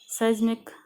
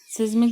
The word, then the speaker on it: seismic: तो इसके बाद हम आज पढ़ेंगे सेस्मिक या फॉल्ट जोन्स। तो बच्चों इसको हम सिस्मिक भी पढ़ सकते हैं, लेकिन इसका प्रोनाउंसिएशन है सेस्मिक या फॉल्ट जोन्स।